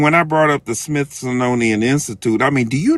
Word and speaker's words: Smithsonian: I'm sorry Nelly saying Smithsonian is like me saying Superfluous Superfluous super super Smith son how do you pronounce it Smith sonian okay the Smith sonian Institute